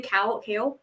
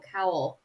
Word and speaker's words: Kale: Kale? We say Kale. kale. I always thought it was coal at first, but it's Is it- kale. according to the pronunciation guide, I thought it was Cowl.